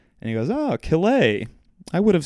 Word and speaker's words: Calais: Everybody pronounces it either Killia or Kalea, but no, it's just Kill-A, Kill-A. And he goes, oh, Calais.